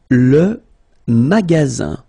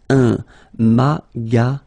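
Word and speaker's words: magasin: Remember you've got only one s between two vowels. Then you get the sound z. All right. And then the ending here is e n. So it's nazal. Goes in your nose and it's maz.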